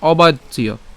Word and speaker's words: অবাচ্য: শ্লোক আমরা প্রথম থেকে একটু খেয়াল করি এর উচ্চারণ কি হবে অবাচিয় কেন অবাচ্য এখানে কি আছে জ ফলা আছে তো আমরা